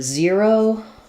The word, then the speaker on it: zero: Um, so, even though it has letters er, zer- zero, it has the ear diphthong. So, you can think about it like zer- zero, zero, or, um, I would